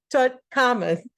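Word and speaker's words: Tutankhamun: King Tut Tut Tut toon tonan no T Tuton common that's how you say it King to tut common uh they just call him King Tut we're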